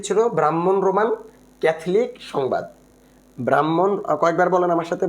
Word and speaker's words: ব্রাহ্মণ: ব্রাহ্মণ, কয়েকবার বলেন আমার সাথে, ব্রাহ্মণ, যদি উচ্চারণটা ব্রাহ্মণ, ব্রাহ্মণ রোমান ক্যাথলিক সংবাদ, ব্রাহ্মণ রোমান ক্যাথলিক সংবাদ।